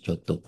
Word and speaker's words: Giotto: Ini pronounce Giotto.